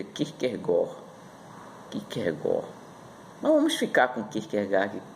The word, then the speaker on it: Kierkegaard: E o centro da filosofia de Kierkegaard, que na realidade pronunciamos Kierkegaard, mas segundo um professor especialista nesse filósofo, ele diz que a pronúncia correta no dinamarquês é Kierkegaard.